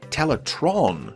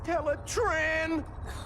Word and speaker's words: Teletraan: within the volcano infamously the computer's name was frequently mispronounced as teletron during this series an error that was